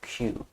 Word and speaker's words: queue: I'm just going to remember the pronunciation of this word as the letter Q.